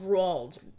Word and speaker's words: Roald: And if you're wondering why I'm saying Roald Dahl and not Roald Dahl, well, that's because it's pronounced Roald. I read his biography, and it actually says it, like, in the first page.